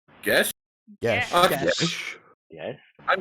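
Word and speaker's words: geas: Have I heard of Gaius? Okay. Or geese? What is the correct pronunciation?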